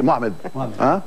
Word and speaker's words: Mohamed: Camille Cabana vous avez vu il a dit Mohamed oui la raison c'est la bonne prononciation et en plus il a aimé ça